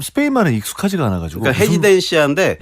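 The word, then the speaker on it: Residencia: 그러니까 헤지덴시아인데 네. 영어로 해보면 쉬워요. 그러니까 R 발음이 H 발음이 나거든요. 스페인은.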